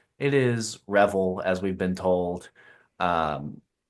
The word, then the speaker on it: Revel: His name is difficult to pronounce. It looks like it should be Siobhan Revel. It is Revel, as we've been told.